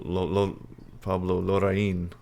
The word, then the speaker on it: Larraín: What's funny is, in English we say Pablo Larraín, but in Spanish it's actually Pablo Larraín.